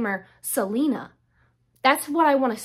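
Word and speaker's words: Celaena: me a lot that given the way it's spelled her name is supposed to be pronounced Salena because there is a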